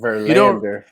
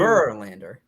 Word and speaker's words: Verlander: is very strong, but you're very strong on the land part for Lander. It's So almost like it's a chunk into 2. Verlander. I thought you were messing with us. Putting the emphasis on the wrong syllable.